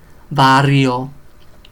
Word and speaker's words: barrio: So be careful with your R's. Caro, carro. Tarro, tarro, tarro. It's a jar. Barrio, barrio, barrio.